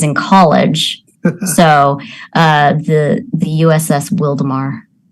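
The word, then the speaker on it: Wildomar: So the USS Wildemar. And then people would mispronounce it and call it the Wild Omar.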